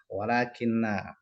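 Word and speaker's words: وَلٰكِنَّ: Semoga bisa dipahami untuk gharib tentang tadi lakinna sama walakinna. Nanti kalau menjumpai lafadz lakinna sama walakinna, ini cara bacanya beda. Pendek sama panjang.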